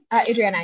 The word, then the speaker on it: Adriana: Adriana, yeah.